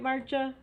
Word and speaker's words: Marcia: Did I pronounce that right, Marcia? Yes, you did. Like the month March with an A.